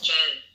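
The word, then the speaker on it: Zheng: is y j so my family name is Jen I'm z h e n g I don't think anyone can pronounce it well in America okay I studied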